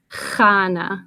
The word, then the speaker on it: Chana: it's kind of hard it's a Hebrew name so it's kana so Hana feisty and I am